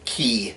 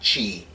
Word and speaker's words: key: three things first yes I am pronouncing the word key correctly its key not Qi second six true words